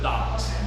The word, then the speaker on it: Domics: Like comics, but Domics.